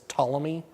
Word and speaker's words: Ptolemy: as the Ptolemy dynasty, spelled with a P, so like pterodactyl, it's Ptolemy.